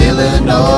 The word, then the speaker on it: Illinois: It ends with an S, but don't say it, boy, when mentioning Springfield, Illinois. S is silent, man.